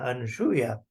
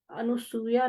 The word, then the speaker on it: अनसूया: हम अनुसूया बोलते हैं। अनुसूया नहीं है अनसूया है।